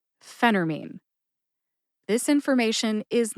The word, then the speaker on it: phentermine: episode up is that sometimes I personally will eat the tea in Phentermine what does that mean eat the tea it means that I will make the tea silent it sounds like this phenermine Phentermine this information is